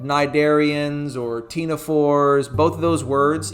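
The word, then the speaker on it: ctenophores: We like to name things like nidarians or tenophores. Both of those words even though you don't hear a c sound uh there is a c in the front of them which I know that's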